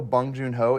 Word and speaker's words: Bong Joon-ho: I do know Bong Joon-ho, even if I'm saying that right or not with the correct No, you're saying accent his or name whatever or correct.